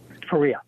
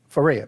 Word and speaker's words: Faria: what was the circumstances of Betty Faria is pronounced Faria Faria Betty Faria what were the circumstances of her